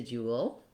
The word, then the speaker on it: dual: En gl is h fo r re si du al , re si du al in st ea